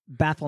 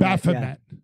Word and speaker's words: Baphomet: How do you pronounce it? The goat? Baphomet. Baphomet.